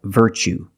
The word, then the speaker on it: virtue: word what's the pronunciation you see Tu e as the second syllable so the t is pronounced CH like chicken so what's the pronunciation that's right virtue what is a virtue